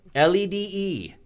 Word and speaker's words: lede: But it's spelled different. LEDE. Yeah. Lede.